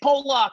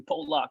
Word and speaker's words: Pollock: mr randy johnson's like hey paul lock he knows call me paul luck you gotta learn how